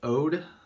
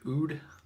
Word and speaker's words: Oud: I always thought it was called Ode, but I guess it's Oud. My bad.